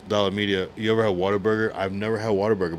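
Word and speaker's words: Whataburger: See, I'm saying a like water burger because that's apparently that's how they say it. Um, I said a what a burger.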